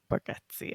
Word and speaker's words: Bargatze: Bargatze.